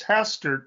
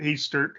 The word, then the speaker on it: Hastert: contacted after last week I'd been mispronouncing it it's hastard not Easter uh the hastert rule